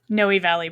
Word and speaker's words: Noe Valley: Noe Valley Books, yeah.